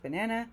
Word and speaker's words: banana: In brackets, it will give you how many syllables the word has. So you can see here b-nan-a, which means it has 3 sounds that they're separated by these dashes. And the one that is stressed is in bold. So here it's nan.